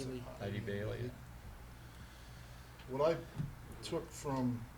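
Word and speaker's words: Eide Bailly: Is that how you ID pronounce it? Bailey. ID Bailey, yeah.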